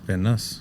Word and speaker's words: Van Nus: Is that how you pronounce it? Van Nuss? Van Nuss, Yeah. So does nice. Van Nuss? There's no Y in it. NUS.